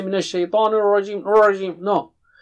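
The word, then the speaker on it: الرجيم: Okay, Ar-Rajim. Minash Shaitani Ar-Rajim. Ra is thick here. It is not English R. Be careful, it's not English R. Don't say Minash Shaitani Ar-Rajim, Ar-Rajim.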